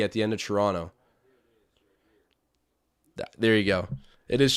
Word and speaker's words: Toronto: the correct pronunciation is toronto they're talking about toronto you guys get what i mean it's like a silent t when people hear when